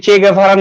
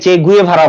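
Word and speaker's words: Che Guevara: যেমন আপনারা যদি চে গেভারার নাম জানেন, আমি জানি না শুনেছেন কিনা চে গেভারার নাম, অনেকে চে গুয়েভারা বলে, সঠিক উচ্চারণ হচ্ছে চে গেভারা।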